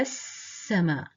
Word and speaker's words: السماء: The shadda is a sign that this is a sun silent lam. So it's read انظر إلى السماء. انظر إلى السماء. So these 3 letters here are silent and not pronounced.